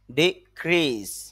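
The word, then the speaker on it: decrease: সজ্জা ডেকোরেটিভ সজ্জা সংক্রান্ত ডিক্রিজ ডি ক্রি খরমাদে স্ট্রেস হবে এজন্য ঢাক্কা দিতে হবে একটু চাপ দিতে হবে আর ক্রি এখানে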